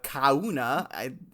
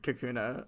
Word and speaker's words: Kakuna: God good luck if the coun of the kauna first of all I mean it's spelled k a k n a ah uh excuse me Kakuna um okay I'm just gonna say if the